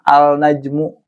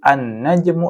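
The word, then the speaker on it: النجم: Maka cara bacanya bukan al-najmu, bukan al-diku ya, tapi an-najmu, langsung masuk ke huruf yang ada setelah lam.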